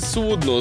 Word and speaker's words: судно: У слові «судно» незалежно від значення наголос на останній склад.